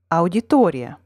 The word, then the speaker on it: Аудитория: Note that in the English word, the second strongest syllable is two syllables away from the main stress, while in the Russian word, the second strongest syllable is the one immediately before the stressed syllable.